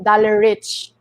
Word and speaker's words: Dalareich: released loud like I they pronounce my name like dollar like in the me in the Philippines is actually dollar rich and yeah I started